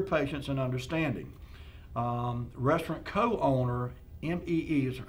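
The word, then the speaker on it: Mee: Restaurant co-owner, M-E-E, I guess pronounced Me, and her last name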